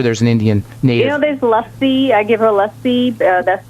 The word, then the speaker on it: lassi: There's lassi. I give her lassi. That's the one she likes. Spell it for me.